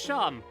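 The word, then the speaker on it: Seam: The name's Sim, pronounced Sham.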